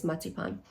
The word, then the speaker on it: Marzipan: So it's I know Americans like to pronounce it that way, but if you want to know that is the correct German way is matipan.